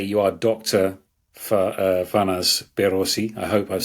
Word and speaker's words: Farnaz Behroozi: Fanas Berosi. I hope I've said your name perfectly there pronounced I have perfect you and you've